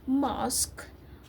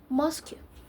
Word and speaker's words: mosque: hidden another example is the word mosque which should be read mosque but it's very typic typy pronounced mosu funny right myself even as